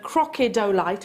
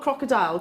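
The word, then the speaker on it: crocidolite: is due to the crocodolite, I always have to say it like that, not crocodile, crocodolite inclusions, which is the same material which is responsible for the chatoyancy within your tiger's eye.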